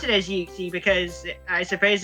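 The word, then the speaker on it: ユクシー: Like Yuxi, we pronounce it as Yuxi because I suppose its Japanese name is actually pronounced as Yukushi.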